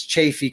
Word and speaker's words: Chaffee: Chaffee County Colorado now people will call it all kinds of different names they'll try to pronounce it differently it's Chaffee County youjust Chaffee County Chaffee